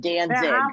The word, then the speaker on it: Danzig: Danzig. I will spell it in the chat. Let me spell it in the chat because it sounds like dancing, but Danzig.